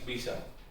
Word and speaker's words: bija: Which basically means bisha. Bisha. So that's how our ancestors used to pronounce it, bisha.